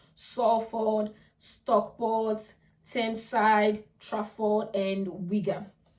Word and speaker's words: Salford: It's spelled Salford, but it's pronounced Salford, Stockport, Thameside, Trafford, and Wigan.